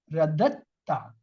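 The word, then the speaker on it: رددتَ: Actually, when there is a sakun and after followed is a shad, that sakun letter is not pronounced. So we have double dal. One is with fatha, other is with sakun. This sakun, second dal is not pronounced. We join the first dal with the ta.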